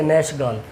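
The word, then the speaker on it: Nachtegall: नैसगल इसको प्रोनाउंस करिएगा। ठीक है? नेशगाल। ठीक है?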